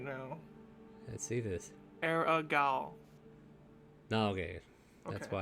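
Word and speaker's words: Arrigal: Aragal Oh. is A-R-R-I-G-A-L. Can you not pronunciate today?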